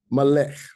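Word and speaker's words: מלך: So we have melech. Instead of saying melecha, if there was a komatz under here, we would say melecha. But if there's a shoe under here, it's closing this last syllable, so you have melech.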